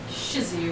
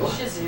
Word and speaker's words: Shih Tzu: I think the T is silent.